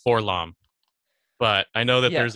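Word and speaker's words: 4-LOM: Freddie and I, personally, as well as several other friends of ours, have pronounced his name as Forlom.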